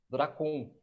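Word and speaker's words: δράκων: Já no Novo Testamento, o termo dragão, ela se pronuncia como dracon, tá?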